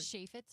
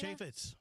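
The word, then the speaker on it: Chaifetz: I don't know how to pronounce that name. The arena. What you call that? Chess name. Shafitz arena. Chafitz.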